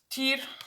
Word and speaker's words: Tyr: Tyr is actually the right pronunciation, as far as I know.